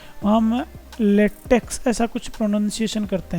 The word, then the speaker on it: LaTeX: अक्ष हैय अक्ष नहीं यह लेटिन वर्ड काई जिसका उच्चारण क ही होता है तो इसलिए हम लेटेक इसको बोलते हैं इसको लेटेक्स नहीं बोलते तो यह एकस ना मानकर इसको काई मानना ज्यादा सही रहेगा लेकिन इंग्लिश में हम एक्स ही लिखेंगे तो लेटे की स्पेलिंग में यह एक्स है लेकिन यह काई से आया हुआ है इसलिए इसका उच्चारण थोड़ा डिफरेंट है अब अपने जो डॉक्यूमेंट